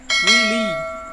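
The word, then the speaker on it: wily: এটাকে আমরা কী করো, উইলি, উচ্চারণটা কী হচ্ছে উইল, আর ওয়াইয়ের উচ্চারণ হচ্ছে ই, তাহলে উইল ই।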